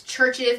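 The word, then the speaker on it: CHVRCHES: my next song is called get out by churches I believe is that how it's pronounced I'm hoping basically its churches but the U is in me so let's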